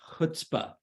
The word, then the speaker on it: chutzpah: But to me, watching it, and maybe this is just because it's pronounced it's pronounced chutzpah.